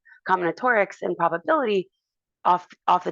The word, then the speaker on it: combinatorics: Sometimes people, you know, are trying to work out the pronunciation of it. And so sometimes people be like common matrix, right? Or whatever. But um it's combinotaurics.